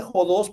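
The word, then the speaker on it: ὁδός: significa camino fense esta palabra jods este se pronuncia jods porque tiene arriba de la o de la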